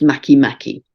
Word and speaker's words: Makemake: The full moon's at 7 of Pisces, so it's exactly by degree quincunx to a dwarf planet called, spelt make, but pronounced Makemake.